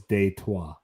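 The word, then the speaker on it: Détroit: yeah Detroit was a the original pronunciation of Detroit is detwa French I like Detroit better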